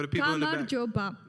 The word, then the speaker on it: gamarjoba: Gamarjoba. Gamarjoba.